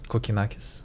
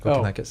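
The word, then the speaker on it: Kokkinakis: actually I don't I don't know how to pronounce his name correctly uh Kokakis Kanakis yeah Kanakis from Australia yeahakis and I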